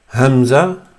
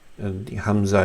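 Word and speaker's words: همزة: So it's just like uh-oh, that's that is where the Hamza is used. So this is Hamza, which is actually let me see if it's in the middle of the throat or yeah, it's at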